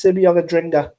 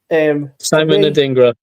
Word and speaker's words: Simon Adingra: Next player is Simeon Adringa. Simon Adingra. I thought you pronounced Simeon Adringa.